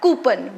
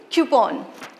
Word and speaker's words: coupon: Now, coupon. This is commonly mispronounced as coupon. We call it coupon, but actually it is coupon, coupon.